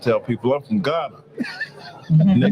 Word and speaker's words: Garner: r correct they said that's gner get your diction together man it's not GH I said where I'm is G right don't hate don't hate